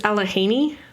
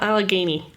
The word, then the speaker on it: Allegheny: The other announcement that I have is that it is alahhaney, not Alagany for anyone who's asking. Still trans. So, sure, but it's definitely Alahhaney. The G is silent.